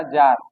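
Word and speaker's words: czar: Romanov वंश का जो राजा था निकोलस द्वितीय, इस समय रूस का जार। जार बोला जाता है रूस में राजा को, कैसे लिखा जाता है, के साइलेंट होता है यहाँ पे।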